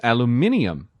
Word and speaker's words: aluminium: Humphrey Davy, and he coined the word aluminum in 1808, and then he referred to it again in 1812 as aluminium. So the guy who came up with the word used both, and both pronunciations are considered correct.